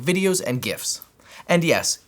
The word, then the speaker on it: GIF: to your stream with things like videos and GIFs. And yes, it's pronounced GIF.